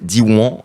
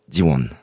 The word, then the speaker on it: Diwan: Donc c'est Diwan avec un petit N à la fin. Diwan.